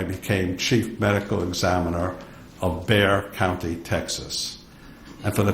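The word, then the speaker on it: Bexar: chief medical examiner of beay County Texas and for the transcriber bear is spelled be XA R the exas silent um so I was chief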